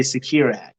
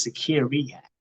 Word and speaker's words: Security Hack: Some people are going to say Secure Hack. Nope, it's Security Hack.